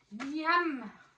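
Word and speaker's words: Niamh: fille qui s'appelle Niam, c'est très dur à dire, Niam, N-I-A-M-H. Je ne sais pas si le H se prononce ou pas.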